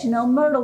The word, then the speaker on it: Myrtle: And don't forget, Myrtle rhymes with fertile.